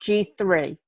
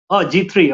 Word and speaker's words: G-III: g-iii Apparel Group Madi pronounced g3o g3 okay g3 apparel group building multi-million dollar brands